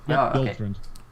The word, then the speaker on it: Yoltrund: Yoltrund. Yep, Oh, okay. Yoltrund. Pronounce exactly how it's spelled.